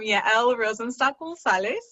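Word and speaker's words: Yael Rosenstock: was actually surprised you hadn't confirmed how to pronounce my name at the beginning of this so this makes sense why i am yael rosenstein and i'm a sex educator sex coach and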